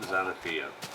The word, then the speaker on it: Xanaphia: So you pronounce it like that. The X makes a Z sound. So yeah, it's pronounced Xanaphia.